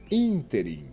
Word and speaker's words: ínterim: E o último caso, por exemplo, ínterim. Veja como se pronuncia essa palavra. Ínterim. E ela já veio até acentuada, você percebeu? É uma proparoxítona, porque a sílaba tônica é a antepenúltima da palavra.